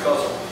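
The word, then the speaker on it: ghazal: them together and formed a guzzle DH Lawrence guzzle it's g h a z a l that's how you say it um how many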